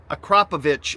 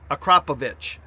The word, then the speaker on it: Akrapovič: This is the Acropovich exhaust.